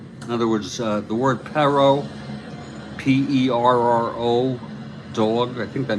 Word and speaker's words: perro: In other words, the word perro, P-E-R-R-O, dog, I think that means dog. They used to tell us just say petero, real quick, P-E-T-E-R-O. Pronounce it phonetically like that.